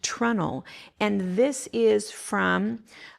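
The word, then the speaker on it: treenail: This is something called it's spelt tree nail, but it's pronounced trunnel.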